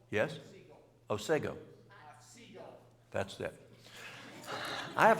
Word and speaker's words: Otsego: How do you pronounce Otsego? Otsego? O-T-S-E-G-O? Yes? Otsego.